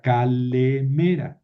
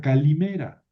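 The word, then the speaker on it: καλημέρα: Y luego los griegos leyeron esta eeta como i, lo que se llama el iotasismo o itasismo, que es pronunciar esta esta vocal e de sonido original era e como i. Entonces queda calimera.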